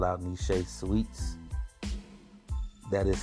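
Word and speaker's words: Nechez: them early of course we gotta call out nishay sweets that is spelled n e c h e z sweets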